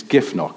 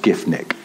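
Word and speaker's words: Giffnock: it's sort of and I've been saying on previous recordings it's GIF KN and somebody emailed in who's here tonight actually and said it's actually pronounced GIF Nick and I don't know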